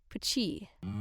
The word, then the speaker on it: Puchi: And one guy who named himself Puchi, pronounced as a single syllable, Puchi.